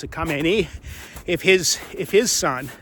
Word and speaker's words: Khamenei: And he said the other day that it would be unacceptable if the son of the Ayatollah, I believe you pronounce it Khamenei, if his if his son if this 86-year-old guy that we killed son becomes the the next supreme leader.